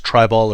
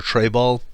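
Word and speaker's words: Treibball: One of the things I recommend, and I've heard it pronounced both ways, is try-ball or tray-ball.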